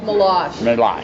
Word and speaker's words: Meloche: Meloche? Meloche. Yeah, yes. No one here can pronounce it, so you're in good company.